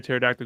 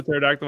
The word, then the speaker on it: pterodactyl: can't you hear a pterodactyl go to the bathroom because the p is silent that's good that's like